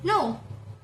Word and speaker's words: know: We don't pronounce K, we just pronounce N. Like know.